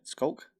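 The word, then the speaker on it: Sculk: Or, yeah, skulk.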